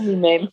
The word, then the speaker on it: Mem: Yeah, they do call me Mim. Sometimes I get called Mim as well. Oh, do you? Yeah. Not Mimi, but Mim. M-E-M. Yeah, rather than Mem. They do. They pronounce it as Mim.